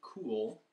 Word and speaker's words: Kuhl: collection this particular flute is made by Gary cool his last name is spelled K Uhl they live in crow Oregon